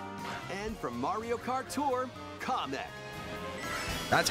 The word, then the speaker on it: Kamek: And from Mario Kart Tour, Kamek.